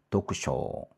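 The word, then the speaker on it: 読書: 도크세가 아니라 요게 이제 조금 발음이 바뀌거든요. 어떻게 바뀌나 보세요. 도크쇼 도크쇼 그렇게 되네요.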